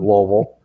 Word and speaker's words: Louisville: The first thing we had to do is we had to learn how the locals say it, so that they don't think they were not from there, but in Louisville.